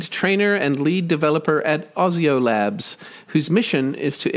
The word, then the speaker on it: Osio: And then Osio, we say Osio Labs, Osio.